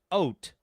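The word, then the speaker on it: haute: I don't know uh adjective pronounced oat oat meaning fashionably elegant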